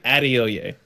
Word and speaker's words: Adeoye: because I would love to know how it's pronounced. Blessing. Addio.